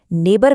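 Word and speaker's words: neighbour: वैसे ही नेबर में जी एच की कोई आवाज नहीं है।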